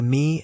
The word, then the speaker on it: ME: "All right, we're going to take the MI and SID up first," he said, pronouncing the acronyms as Emmy and Sid.